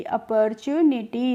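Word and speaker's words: opportunity: अपॉर्च्यू और एनआई टी वाई को पढ़ेंगे निटी अपॉर्चुनिटी अपॉर्चुनिटी का मतलब होता है अवसर मान लीजिए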